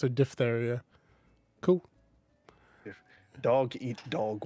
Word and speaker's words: diphtheria: yeah depth don't say diphtheria the ph in this word is pronounced f yeah i was right it's a diphtheria cool if dog eat